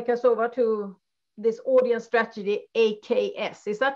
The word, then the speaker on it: AKAS: and with Adi Kassova to this audience strategy, AKS. Is that how you say it? Or do you say AKS? AKS.